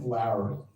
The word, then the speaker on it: Loury: There is a professor, economist, Glenn Lowry. Last name is spelled Loury.